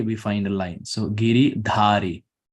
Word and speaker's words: Giridhari: find a line so giri dhari if the a is not there then it's giridhari so if so any alphabet that has the line on top it's pronounced ah this is the conversion of